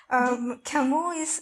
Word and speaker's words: Camus: Albert Camus. So it's the French pronunciation, but yes.